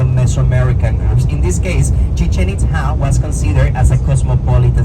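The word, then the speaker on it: Chichén Itzá: Chichen Itza. That will be the correct pronunciation. It is not Chichen Itza, okay?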